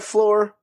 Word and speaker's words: Floor: That's lore with an F at the beginning. So it sounds like floor, but it's not the floor you're thinking because it's our floor.